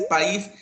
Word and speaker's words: país: el país a no pues la palabra correcta es país entonces eso quiere decir